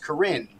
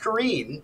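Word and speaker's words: Corinne: completely aside, but I always thought it was pronounced Corrine. Mm-hmm. But actually what you hear on the recordings is how they actually pronounce their names. So it's pronounced Corrine.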